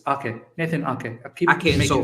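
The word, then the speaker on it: Aké: But the whole Nathan Ake situation, I keep saying Nathan Ake, it's Ake, Nathan Ake.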